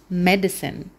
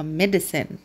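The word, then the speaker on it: medicine: نخف اسمه اسمه اسمه مديسين مديسين والي سايلنت مش هنقرا ميديسين مديسن اوكي لما يكون عندنا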